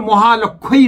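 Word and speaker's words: মহালক্ষ্ম্যৈ: হবে মহালক্ষই নমঃ মহালক্ষই মহালক্ষী উচ্চারণটা মহালক্ষই নমঃ এই মন্ত্রটা অবশ্যই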